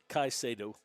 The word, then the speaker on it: Caicedo: How do you pronounce his last name? Caicedo.